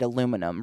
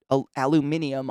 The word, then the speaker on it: aluminium: Because in America, we just decided aluminum, remember? America. Like, literally the people who put aluminium on the fucking periodic table and discovered it and organized it were like, here's aluminium. And America was like, that's a lot of syllables. Think we'll go with aluminum. And then just did it. Like, I'm on your side. It's fucking aluminium.